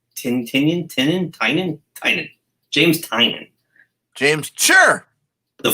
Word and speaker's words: Tynion: Tynion.